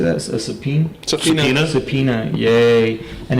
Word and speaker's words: subpoena: how do you say that as a subpoena subpoena yay and it's all because of an ongoing